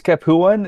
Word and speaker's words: Capuan: a look at the Capon or Capuan. How do you say that, Josiah? It's Capuan. It's because it's based off the city of Capua in the south of Italy.